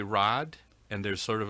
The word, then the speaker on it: Raad: to be confused with raed, which is like um lieutenant or leader, and that's spelled a little bit differently. Some people will want to call me Raed. Um it's actually Rad and there's sort of